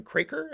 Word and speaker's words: Craker: You are doing it with artist Colin Craker. Am I pronouncing that? Craker.